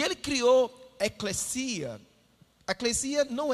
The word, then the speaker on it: ekklesia: E o interessante é que a eclesia não é eclésia, é eclesia. A palavra original você pronuncia eclesia.